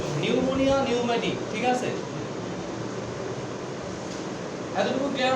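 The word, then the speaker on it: pneumonia: এই যে দেখেন পি এন ই নিউমোনিয়া। হ্যাঁ, পি এর উচ্চারণ হবে না। নিউমোনিয়া, নিউমেটিক।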